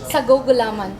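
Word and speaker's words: sago't gulaman: Sagugulaman.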